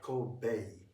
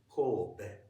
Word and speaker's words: Kobe: And just as Just don't as put E. It's not Kobe. Kobe.